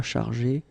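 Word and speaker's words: chargée: You don't pronounce it because phonetically it doesn't exist, but you need to write it. Okay, il, elle sera chargé de faire.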